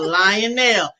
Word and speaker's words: Lionel: It's lion. Lion nail.